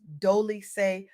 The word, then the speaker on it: Dolce: I'm your host Dolce, pronounced Doly like sweet softness whispered in French.